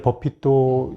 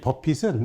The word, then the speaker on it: Buffett: 근데 이 버핏은 물론 발음은 비슷한데 ETT입니다.